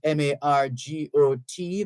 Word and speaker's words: Margot: Bermuda and on Hurricane Margot located and that Margo is spelled m-a-r-g-o-t the t is silent so hurricane Margot located